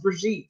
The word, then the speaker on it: Brigitte: name is actually pronounced brigitte so there's no d there's no d and j and all that crazy stuff it's brigitte it's french it's b-r-i-g-i-t-t-e sirius s-e-r-i-o-u-s